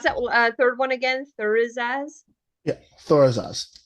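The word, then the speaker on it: Thurisaz: Thorizaz? Yeah, Thor is Oz. Thorizaz. Okay, Thor so think of just Thor.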